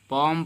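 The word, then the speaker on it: palm: इसको हम पालम नहीं बल्कि पॉम पढ़ेंगे, एल को हम साइलेंट रखेंगे, क्योंकि एम इससे पहले क्या हुआ है, इसके पहले आपका एम आया हुआ है, और एम के पहले अगर एल आ जाता है तो एल साइलेंट हो जाता है।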